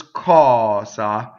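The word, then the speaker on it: cosa: So this is ccɔsa, ccɔsa. So how do we make a double K? Same thing. We have a long vowel, we stop phonation, we go up to the K without saying it, then we say it.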